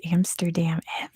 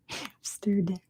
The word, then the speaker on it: Amsterdam: I was just about to say, in California, if we have words that have the MST together, we throw a P in there, so we pronounce it Amsterdam. I have no idea why. It's really hard to not throw a P in there. Amsterdam. It's not Amsterdam.